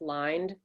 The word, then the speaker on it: Lynde: know my name is my last name is pronounced lined most people don't say it that way so i thought well